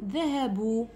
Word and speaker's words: ذهبوا: الرابعه عندنا الفعل الماضي المقترن بواو الجماعه، معناتها غير نشوفوا واو الجماعه، دونك بلا ما تكسروا راسكم، غير نشوفوا واو الجماعه نديروا المد تاعنا، معناتها نكتبوا المد تاعنا ولا ننطقه، مثلا ذهبوا، مفهوم؟ اذا لاحظوا لهنا كاع عندي جمع، نكتب المد ولا ننطقه.